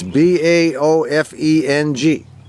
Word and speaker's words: Baofeng: It's called a Baofeng or Bofeng, or I don't know how you pronounce it. You know something? I don't care how you pronounce it. It's Baofeng. Baofeng.